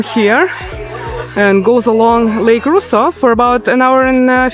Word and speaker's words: Rosseau: First of all, Lake Rosseau, not Rosseau.